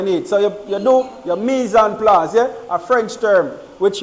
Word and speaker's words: mise en place: The proper pronunciation is mise en place. Mise en place.